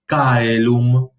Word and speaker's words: caelum: cualquiera de estos tres, tenemos que poner énfasis a la hora de pronunciar esa palabra en el primer elemento del diptongo. Entonces leemos caelum, aurum, foedus.